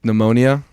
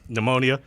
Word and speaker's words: pneumonia: pet peeve of mine like pneumonia pneumonia why is there a P there yeah like that's very